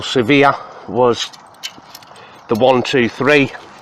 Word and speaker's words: Svea: three are there was the original surveyor or severe let's pronounce it properly the original severe was the one two